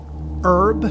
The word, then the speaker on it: herb: dust spice okay um herb I I personally do not pronounce the h i don't think I normally say herb and uh mushroom see